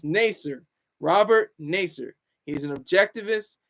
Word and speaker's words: Naser: individual, just like Robert Naser. And I'm still trying to pronounce his name. It's Naser, not Nazir. I know people in the chat are like, oh, it's Robert Nazir. No, it's Naser.